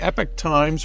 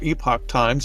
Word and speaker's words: Epoch Times: So, by the way, Victor, I was reading Epoch Times or Epoch Times, depending on how you pronounce it, and there was some